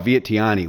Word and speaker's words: Vientiane: outside of like their I'm gonna call it Vientiane, which is how the foreigners pronounce it, and hey, I'm a foreigner. But the Thais don't say it like that at all. The T is completely silent, and it's the V is a W sound, and there's a second W in there somewhere.